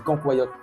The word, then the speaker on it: cancoillotte: Si vous connaissez pas la ccoyote, vous faites une erreur clairement et apprenez à le prononcer. On dit cancoyote, pas cancoyote ou des des mots bizarres comme ça.